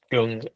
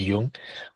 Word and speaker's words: Jung: I my website is Jung Personal Mastery. So Jung spelled J U N G. Often people think mispronounced as Yung.